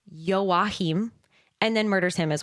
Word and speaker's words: Joachim: at the curator saying that his name is pronounced Joachim, and then murders him as well.